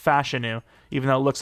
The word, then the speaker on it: Fashanu: crazy Morgan Moses retires but fashanu is it fashu I swear his name's pronounced fashanu even though it looks like fashanu um he's